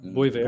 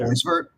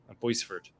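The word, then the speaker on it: Boisvert: Yeah, is that how you pronounce it? Boisevert? It's not Boyver. Boisevert. Boisevert.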